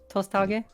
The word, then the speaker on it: Tosthage: Because it's very similar to like the Japanese pronunciations. Right. Oh, yes, of course. Yeah, so it's like Hokage, Tosthage, kind of word.